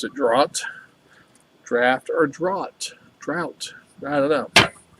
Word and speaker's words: Draught: Guinness Draught, whatever you want to say. Supposedly, according to Wikipedia, it's pronounced all three ways. Depends on where you are in the world.